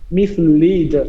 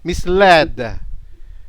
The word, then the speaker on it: misled: I think this culture has this culture has misled. Ah misled.